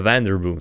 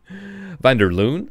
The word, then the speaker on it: Vanderboom: Vanderloon? Did I pronounce it Vanderloon? No, it's not van der Loon. It's definitely not van der Loon. It's an M, and there's another place somewhere where it says...